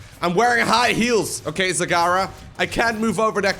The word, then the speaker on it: Zagara: stream by the way pronouncing Sagara as Zagora for a while my evil plan it's been going very well it's not very evil it's just fun to see people get very upset over over me on purpose mispronouncing your name some people are very